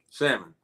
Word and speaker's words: salmon: o n for me salmon that's the correct answer salmon job no get the L out of there y if this guys